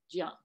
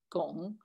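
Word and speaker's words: 江: So for instance, the character Jiang for river in southern China has a phonetic that today is read Gong. And yet in Mandarin Chinese, that character is read Jiang. However, in Cantonese and in other languages in southern China, it's still pronounced Gong.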